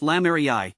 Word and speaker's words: lamerei: the plant's thick base lame Ray pronounced Lami honors Jean Baptist Lamar